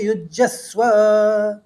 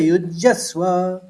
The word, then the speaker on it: युज्यस्व: युज्यस्व 2 आघात देने हैं, यौ का लिए जौ का आघात और यौ के ऊपर फिर सौ का आघात। तो ततो युद्धाय युज्यस्व, और पहले वाले यौ